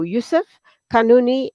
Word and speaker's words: Youssef Kanouni: lives in Cape Town but currently in Morocco Yusuf kanuni salaam alaikum to you welcome to the program I do hope I'm pronouncing your name correctly yeah yeah media